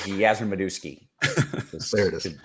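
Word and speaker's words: Yastrzemski: guy oh yeah uh I believe the proper pronunciation is yasmodowski uh okay sorry continue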